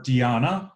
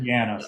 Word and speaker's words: Deanna: I will remember, I want to say Deanna, but then I heard Dina once. I'm like, oh, shoot, I was saying it wrong the whole time. So, Deanna.